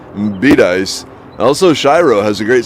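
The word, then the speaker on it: Bedias: find out it's pronounced Bidice. Also, Shiro has a great cemetery, very historic. Yes, Shiro does. Went back when I had the motorcycle, but Bidice. Okay, so it's Bidice instead of Bidaeus.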